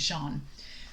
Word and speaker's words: Jean: okay i've been calling i called him jean last episode because i wasn't totally sure because it spelled like gene but it's shawn john oh my gosh like